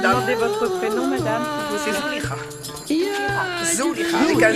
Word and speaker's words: Zouliha: C'est Zouliha.